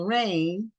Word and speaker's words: Raine: and the name of her book is saving rain and rain is a name and it's spelled r a i n e so Maran